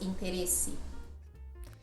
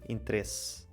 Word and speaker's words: interesse: É, para nós, interesse. E também notar que nós quase não pronunciamos aquele é quase um suspiro, interesse. E vocês pronunciam mais o i.